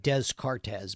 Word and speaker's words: Descartes: Looks like Descartes, but it's Descartes is how you say it.